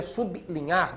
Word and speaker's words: sublinhar: uma pronúncia né diferente quando você bota o sub na frente ou seja su B bli o povo passou a dizer bli que não é uma pronúncia perfeita né pronúncia perfeita ser é sublinhar destacando levemente Então como o l